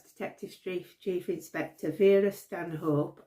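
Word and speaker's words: Stanhope: inspector be Stan hope although she does actually sometimes pronounce it Stan up now I don't know whether that's a nod to whe you know um traditional North umberland people who will pronounce it that way but I'm sure she's pronounced it St up as well she works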